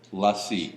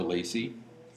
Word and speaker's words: LaCie: I've been LaCie or Lacey, depending on how you want to pronounce it.